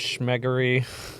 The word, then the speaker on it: Schmeggery: Yeah, his name's Schmeggery. Yeah, it rhymes with skeggery.